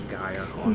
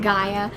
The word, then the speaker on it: Gaia: Gia. Gaia.